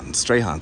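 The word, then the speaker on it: Strachan: All right, and that's Strahan. They said the C is silent.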